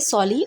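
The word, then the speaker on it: sorely: सॉली में are silent है तो इसलिए इसको बोलेंगे सॉली और ये एक एडवर्ब है।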